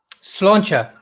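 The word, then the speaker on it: Sláinte: Slangt? Slancha.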